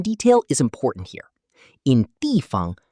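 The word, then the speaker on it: 地方: In dìfang, fāng is usually pronounced with a neutral tone, so we say dìfang.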